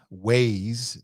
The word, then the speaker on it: Waze: kind of works like the waze rhymes with maze but it's a w instead of an m weighs w-a-z-e it's uh it's a